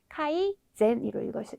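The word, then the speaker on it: 改善: 센이 아니라 네, 젠으로 읽어주셔야 되기 때문에 착할 선의 기본 발음이 젠입니다. 젠. 그래서 개선되다 이런 거 하실 때 카이 젠으로 읽어주셔야 된다는 점을 기억해 주셔야 되는 단어이고요.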